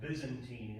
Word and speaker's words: Byzantine: Constantinople remains the capital of an Eastern Roman Empire that we will come to call Byzantium, or the Byzantine Empire. Sometimes pronounced Byzantine Empire, which will last for another 1,000 years.